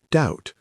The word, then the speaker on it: doubt: Doubt, pronounced doubt, silent B.